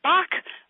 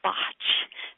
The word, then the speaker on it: Bach: in the United States so we typically call them Bach flowers like the composer Bach and however a doctor Edward barkas Bach was English and they pronounce it botch so you guys across the pond so to speak I call it botch so forgive me if